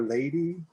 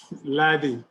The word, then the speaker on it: Lottie: Is it Lottie or Lady? Lottie. Lottie. Okay.